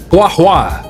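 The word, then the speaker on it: Guoba: see the moth that's how you say it guwa got you got you you also I can't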